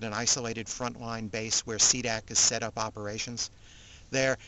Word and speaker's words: SDC: So they create a small elite force from the UNF called the SDC, pronounced CDAC.